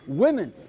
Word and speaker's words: women: Women. And notice that with women, we also do something to the pronunciation here, don't we? Right. The singular is woman, and the plural is women.